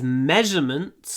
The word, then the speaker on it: measurements: These measurements are wrong. Measurements. Ударение на ме, поэтому удлиняем м.